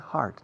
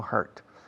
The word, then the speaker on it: heart: Se pronuncia heart, no hurt.